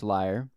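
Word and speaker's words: lyre: uh 2,500 BC so let's talk about liars now and no I'm not talking about people that lie I'm talking about the instrument the liar which is spelled l y r e the liar was invented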